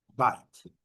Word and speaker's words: bite: Então, nada de bite, bite, bite. Então, é bit, bite.